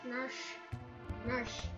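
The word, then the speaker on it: Narshe: Narsh. It's a weird pronunciation. Yeah, but that's what it is.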